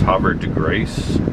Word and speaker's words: Havre de Grace: We're at, how's that pronounced? Havre de Grace.